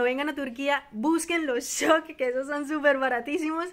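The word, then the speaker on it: Şok: Para nosotros lo vemos escrito como Sok, pero ellos lo pronuncian Shok porque es como una S con un palito.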